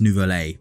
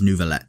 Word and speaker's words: Neuvillette: the ever beautiful nouveaulette originally I thought his name was pronounced nouvelle but the way they pronounce it in-game is nouveaulette so I'm I'm guessing